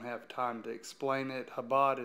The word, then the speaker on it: Chabad: time to explain it Habad is spelled Chabad ch ABA D Jarrod's